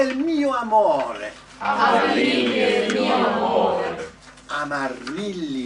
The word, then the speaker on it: amore: You just went amore. Notice that even when you make it really long, amore, the last syllable's still short, because that's how you speak in Italian.